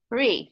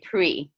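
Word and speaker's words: פְּרִי: Yeah, you could say peri or peri. People sometimes, even though you're supposed to pronounce that vertical dot vowel, in words where the consonants can kind of flow into each other, sometimes people just say pre.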